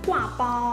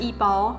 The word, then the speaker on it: 刈包: And for our dish today, we're making Vegan Taiwanese Burger (Gua Bao) Wait, wait, it's not pronounced that way! It's pronounced Yì Bāo.